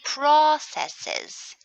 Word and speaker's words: processes: We can say process when it's a verb, but when it's a noun, we put the stress on the first syllable.